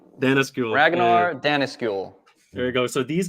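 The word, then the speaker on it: Danneskjöld: these guys were accelerated how you say it Dana skill Dennis school there you go so these guys were accelerationists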